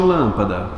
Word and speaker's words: lâmpada: última sílaba antepenúltima perdão lâmpada qual é a mais forte lâmpada lâmpada mais forte é o lã ou seja antepenúltima sílaba cômoda fala para mim essa